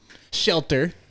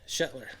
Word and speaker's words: Shetler: Shteler. Did I say your last name right? Nope. No, how do you pronounce it? Shetler.